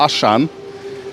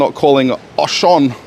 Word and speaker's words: Auchan: है क्योंकि वह थे जब मैंने इसे आशान कहा तो मैंने तुरंत ही मुझे सुधार दिया कि फ्रेंच में आप एओन कहते हैं और आपको लगभग वही फ्रेंच उच्चारण प्राप्त करना होगा, इसलिए हम दर्जनों वीडियो